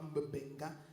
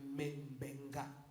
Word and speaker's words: Membenga: Ce n'est pas Mbenga, mais Membenga.